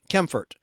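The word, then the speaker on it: Kaempfert: r t Bert k a m p ft kempfort and his version of a swing in Safari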